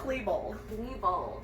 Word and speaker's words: Klebold: So the two guys we are talking about, Eric Harris and Dylan, I always say his last name wrong. Klebold. Dylan Klebold.